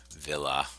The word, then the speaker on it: villa: like that ablative equals villa and that's a long a there I don't know if